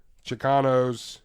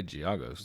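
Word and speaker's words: Giagos: um but anyways uh chicanos is that how you say it chicanos i say giago's like argos yeah like giago's three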